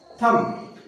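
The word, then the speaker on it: thumb: Third आता है थम।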